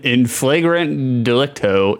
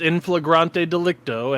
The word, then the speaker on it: in flagrante delicto: in flagrant delicto, in blazing offense indicating an individual has been caught in the act of committing a crime. It is actually pronounced in flagrante delicto, and the only reason